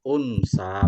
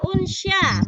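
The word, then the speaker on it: أُنْثَىٰ: Inna khalaqnakum min zakari wa unsa. Betul Bu? Wa unsya, bukan sa, sya ya.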